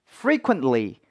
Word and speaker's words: frequently: 걸 보실 수가 있겠는데, frequently에서도 요 frequently T 발음이 사실은 또 발음이 되지 않습니다. T가 적혀 있다고 무조건 T가 발음이 되는 것도 아니라는 거죠. 보이는 대로 읽는다고 다가 아니라는 거고, 그럼 발음이 어떻게 됩니까? frequently 정도가 된다는 거 봐주시면서 문장 처음부터 끝까지 천천히 읽어보도록 할게요.